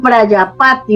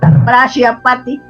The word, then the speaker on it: Prajapati: Por eso hacían eso, sí, Prayapati con J, Prayapati, quiere decir padre de la humanidad Con en J. la India. Vale. Sí, Prajapati se escribe, Prajapati.